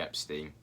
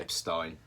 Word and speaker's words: Epstein: This week, a topical episode on Jeffrey Epstein. Fantastic. Or Epstein, depending on how you think it should be pronounced.